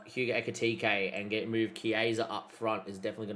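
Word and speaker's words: Kerkez: It is Kaza by the way, not Kza.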